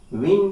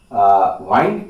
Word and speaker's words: wind: वाइंड, विंड यहां नहीं पढ़ते हैं। प्रोज में जब इस वर्ड का प्रयोग किया जाता है तो वह विंड होता है।